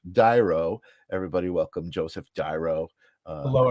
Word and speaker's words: D'Airo: pronouncing your name correctly it's uh it's dyro dyro okay see I knew like something was telling me to ask um I was just kind of intuitively trying to pronounce it it's spelled and so it was uh it was tricky but something told me to ask so it's diro everybody Welcome Joseph dyro